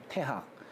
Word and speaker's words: 태학: 태학. 그러니까 옛날에는이 대자를 대자를 그냥 대로 읽지 않고 태로 읽었어요.